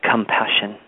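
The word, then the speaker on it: ComePassion: The name of this album is called Compassion, but it's spelled C-O-M-E, passion. So it's a bit of a play on the word compassion, but almost invoking an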